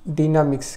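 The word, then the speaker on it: dynamics: ঠিক আছে, ডিনামিক্স, কেউ কেউ ডাইনামিক্স উচ্চারণ করেন, দুটোই ঠিক।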